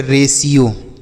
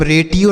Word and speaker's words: ratio: ठीक है, आगे लिखा है RATIO, इसे पढ़ेंगे रेशियो। क्या पढ़ेंगे? यहाँ पर जो टी का उच्चारण है वह 100 के रूप में होगा, इसे हम रेटियो नहीं पढ़ेंगे, रेशियो।